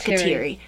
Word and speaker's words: Kateri: Kateri or Kateri, I'm not quite sure the pronunciation. Davina says it's Kateri, yep. So I'm going to believe her.